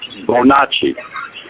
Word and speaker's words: Bonacci: I call Prince Santos Bonacci. Okay. Santos Bonacci, his last name is spelled B-O-N, like Bon, which is usually good, and Acci is A-C-C-I, and he is widely